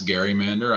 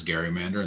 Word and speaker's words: gerrymander: which i should pronounce garrymander i'm seeing joseph in the chat is saying the correct pronunciation is garrymander and that is right